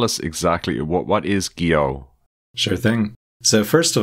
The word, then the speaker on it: Gio: tries to do so I compromise on something like Geo but honestly I don't really think it matters how you pronounce it like that's not that important so we we accept Geo and every other variant Under the Sun as for what it